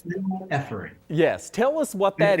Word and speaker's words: phenylephrine: notice, to look at a particular ingredient called phenylephrine. I messed that up. The doctor's going to pronounce it correctly, though.